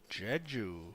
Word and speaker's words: Jeju: Jeju.